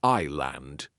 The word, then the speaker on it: island: In the word island, we do not say the S. We say island.